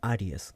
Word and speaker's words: Ares: el personaje número uno se llama Ares pronunciado como aries y pierde al amor